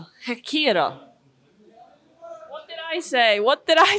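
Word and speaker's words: Ghekiere: You're mixing up the R and the K. You're saying them the wrong way around. Okay. So you've got the right idea, but it's K and then the R. Hekira.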